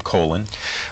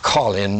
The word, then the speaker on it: Colin: uh actually it's pronounced Colin most of the time but in honor of the both the transverse and the descending colon of the human body I decided on that pronunciation all right that makes